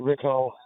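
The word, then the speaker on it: Riccall: If you didn't, I pronounced it Rickall, being from Bradford and extending my ears. Yeah, Rickall, I know it very well.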